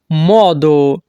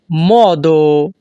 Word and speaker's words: modo: একটা উপায় আছে c'è un modo। এখানে MO এর উচ্চারণ হবে মহ। ইতালিয়ান ভাষাতে যখনই আমরা বলতে চাইব একটা উপায় আছে, তখন আমাদেরকে বলতে হবে c'è un modo।